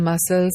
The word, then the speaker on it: muscle: For example, in muscle, C is not pronounced.